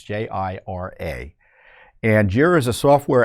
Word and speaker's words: Jira: censor Americans and they did it through this Jiro platform I may be mispronouncing it but it's j-i-r-a and jira is a software application developed by